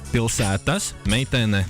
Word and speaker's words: Pilsētas meitene: Pilsētas meitene? Pilsētas meitene. Pilsētas meitene. It seems about right. It's good pronunciation, and you will listen to it.